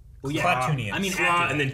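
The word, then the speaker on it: Klatooinians: Is it Klat or Clan? Kla. K-L-A. Well, yeah. Klatoonians.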